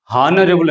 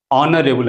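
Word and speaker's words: honourable: అలాగే ఇంకొక వర్డ్ చాలా మంది ఇది హానరబుల్ అని పలుకుతారు, కానీ ఇది హానరబుల్ కాదు, ఇది ఆనరబుల్ అని పలకాలి.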